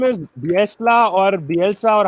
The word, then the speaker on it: Bielsa: His exact name is Bielsa or Bielsa, or how do you pronounce it?